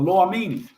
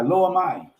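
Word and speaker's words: Lo-Ammi: Lo Amini is what that means. Lo, L-O-A-M-M-I, Lo Amai. No N, I was pronouncing it with an N.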